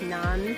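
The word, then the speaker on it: 南: pronunciation is pay and this one is Nan uh that one is sha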